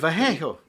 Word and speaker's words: Vallejo: Vallejo.